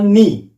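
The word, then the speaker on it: knee: L silent आहे किंवा नी याची सुरुवात जरी केने झालेली असली तरी आपण त्याला वाचताना नी म्हणतो कारण के सायलेंट आहे म असे सायलेंट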